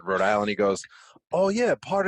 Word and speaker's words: Rhode Island: that we say it it's not like Rhode Island we kind of pronounce it Rhode Island it's like one one word together kind of like how